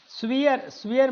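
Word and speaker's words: severe: स्वियर मतलब, सिवियर का मतलब होता है स्ट्रिक्ट, सिवियर इसकी जो प्रोनाउंसिएशन होता है वो देखिएगा इस तरीके से पढ़ेंगे, सिवियर, सिवियर, है ना, ये इसका प्रोनाउंसिएशन है, तो इसको सिवियर पढ़ेंगे।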